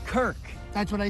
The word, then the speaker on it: Kirk: Why are you throwing balls at my face, Kurt Cousins? It's Kirk.